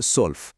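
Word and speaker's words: zwölf: 7 হলো জিবেন, 8 8, 9 9, 10 সেহন, 11 এলফ এবং 12 হলো সোলফ।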